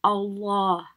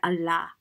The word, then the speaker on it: Allah: If the lam has a fatha or a dhamma, a or a u on top of it, then it will be pronounced with a full mouth. Like if you had Allah, you don't say Allah, you say Allah, like a round face.